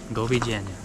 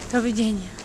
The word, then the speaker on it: Doviđenja: Govidzenia. Doviđenja. Govidzenia. I said it wrong.